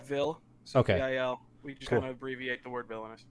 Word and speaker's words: VIL: We just say, if you're like saying like our abbreviations, Yeah. we call it VIL.